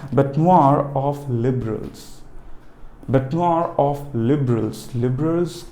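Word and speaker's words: bête noire: बेटनोर, देखिए ध्यान दीजिए, बेटनोर, द प्रोनाउंसिएशन इज नोर. आपको फोनेटिक्स के हिसाब से समझा रहा हूँ, राइट.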